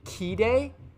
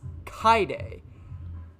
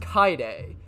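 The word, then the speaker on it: Kaede: pretty sure it's pronounced kai day like you basically skip over the e it's the ah the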